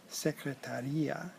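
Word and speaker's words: secretária: And for example, secretaria has an accent on the A after the T, which means the person, the secretary, and secretaria, which doesn't have an accent, is said differently.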